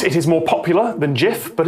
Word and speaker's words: gif: settled i thought that gif with a hard g had one but apparently not it is more popular than jif but it's not a